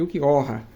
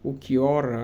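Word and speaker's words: Ulquiorra: Porque como o nome dele seria baseado no espanhol, né? Seria tipo assim, o que chora, o Ukiyoha, né? Prefiro a pronúncia Ukiyoha, mesmo que o mais próximo fosse Ukiora, né? Ou Ukiyoha, né? Para o espanhol.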